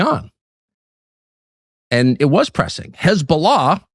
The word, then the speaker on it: Hezbollah: Hezbollah, or as it is often known uh on American television, Hezbollah, kind of the key of pronunciations, people who know what they're talking about call them Hezbollah.